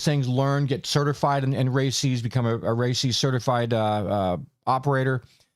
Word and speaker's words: RACES: RACES, and that's how it's spelled or how it's pronounced, RACES, is Radio Amateur Civil Emergency Service.